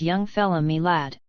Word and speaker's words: young fella me lad: Young fella my lad this curious phrase he pronounced as if it were all one word Young fella me lad yes we ve taken